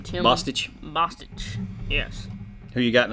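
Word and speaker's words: Boetsch: and I can't say his name Tim bosich bosich yes who you got in that fight uh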